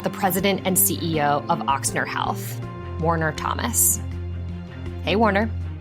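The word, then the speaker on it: Ochsner: the time yeah so some people pronounce it with more of an X some people pronounce it with more of an O which is how it's spelled um but both are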